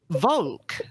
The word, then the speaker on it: Volk: The German pronunciation is. And Russian. Volk.